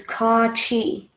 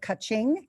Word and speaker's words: Kachi: The easiest way I tell people to say it is Ka-chi. Okay, because I said kaching, and that was not correct.